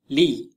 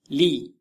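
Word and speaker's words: لِ: It is pronounced li, li.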